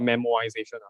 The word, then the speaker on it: memoization: is a idea called memoization memo iozation i am not mispronouncing memo pad the memo m-o uh it basically means